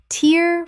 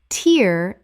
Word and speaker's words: tear: Tear from an eye. Tear rhymes with here. Tear as in ripping. Tear rhymes with hair.